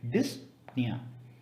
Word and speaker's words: dyspnea: in breathing it's called as dyspnea it is pronounced as dyspnea there is another medical term for gray lips